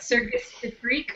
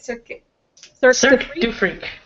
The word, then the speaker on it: Cirque du Freak: Today talk about Circus Du Freak, or how do you say it? Cirque Du Freak. Like Cirque du Soleil.